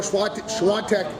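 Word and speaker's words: Świątek: Vondrasova, Igor Swiatek. Now they're putting an N in the name, in the pronunciation.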